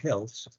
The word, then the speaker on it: health: Como pueden ver, la palabra health es mal pronunciada comúnmente por la TH al final, y la gente prefiere decir health por health.